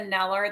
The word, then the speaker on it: Kneller: have a website neller the K is silent k NE l l